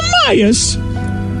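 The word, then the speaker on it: Amias: frustrating what's his name a-m-i-a-s it's pronounced amayas didn't you consider that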